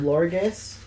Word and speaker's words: Florges: Florges. Do you know Flabebe? Yeah. I think it might be pronounced Florge. Florge? It's supposed to be French.